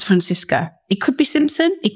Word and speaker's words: Francisca: Francisca.